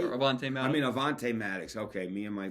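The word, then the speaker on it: Avonte: oh what a Play What a another guy Devonte Maddox right Avon MX I mean Avante Maddox okay me and my me and my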